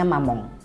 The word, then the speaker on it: Mamonde: Oke, next ke produk selanjutnya, ini ada brand dari Korea yang baru masuk juga ke Indonesia, namanya Mamong. Ya, tulisannya Mamonde, tapi bacanya Mamong.